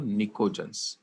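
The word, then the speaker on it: pnictogen: निकोजन क्या बोलते हैं इनको निकोजन पी साइलेंट है यहां पर अब निकोजन क्यों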